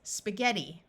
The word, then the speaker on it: spaghetti: G sound of G in this word the I is going to take on a long e sound so this word is spaghetti now I'd like to